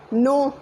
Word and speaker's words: know: When we read, there are some silent words like knowledge, K is silent, know, K is silent.